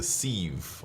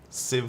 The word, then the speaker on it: Civ: of you I suppose I used to call it the ceve or something but after being corrected so many times now I kind of know Civ five yeah that's how you pronounce it um H I got